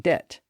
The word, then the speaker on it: debt: their original Latin pronunciation that gave English quite a few silent P's and B's like the p in receip and and the bees in doubt and debt but John Hart hated